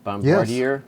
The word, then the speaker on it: Bombardier: are um how do you say it bombardier bombardier yes prototypes and they form pretty much the